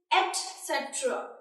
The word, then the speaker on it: etc.: The right pronunciation is etc. Just give your tongue a force on the letter, that is T.